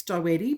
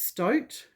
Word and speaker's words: Stoete: And as you can see, they're explaining that her surname, she's Dutch. Her surname is pronounced Stote, not Stoetti.